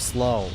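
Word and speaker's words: Silav: In Kurdish you have slav, which is like just a single... Yeah, it's a single syllable.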